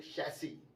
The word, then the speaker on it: chassis: तो आपने चेचिस ही सुना होगा, लेकिन इसका जो सही प्रोनाउंसिएशन है वो है शैसी। जी, शैसी। तो हम ये नहीं बोलेंगे what is your car चेचिस number, the सही साउंड इसका है वो है what's your car शैसी number, not चेचिस, इट इज शैसी।